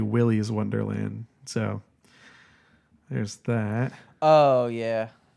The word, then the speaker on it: Wily's Wonderland: I also forgot something I mispronounced it um Wally's Wonderland it's actually Wily's Wonderland so there's that oh